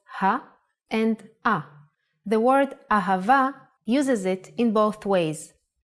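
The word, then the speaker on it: אהבה: Ahava is love in Hebrew. Let's try to write it down. Ah, pronounced Ha.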